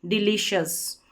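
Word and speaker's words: delicious: और जब भी सी आई ओ यू एस साथ में रहता है तो शस करके उच्चारण रहता है, और साथ ही में आप इसको रख दें एक हिस्से में, अलग हिस्से में, डिलीशियस, ऐसे डिलीशियस।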